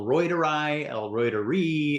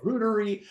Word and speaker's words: reuteri: to do a competition I've heard it pronounced El roider eler rudery I think it's rud if you're sticking with the Latin it's Ry but um whatever you know